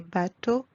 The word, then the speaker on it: bateaux: As you noticed, we don't pronounce the letter X at the end. X remains silent. Des bateaux, des chapeaux, des manteaux, des troupeaux de moutons, des cheveux.